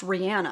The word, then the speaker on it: Rihanna: didn't know Rihanna, and I believe it's pronounced Rihanna. I just watched like a whole bunch of clips with her pronouncing her own name, and it's Rihanna, but we all say Rihanna, or at least I always have, and a lot of people